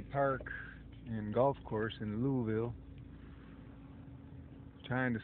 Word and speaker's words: Louisville: Not Louisville, but Louisville. That's how you say it if you're from the area, I think. They know you're from somewhere else. You say Louisville. Louisville. Like Missouri. Don't say Missouri, you say Missouri.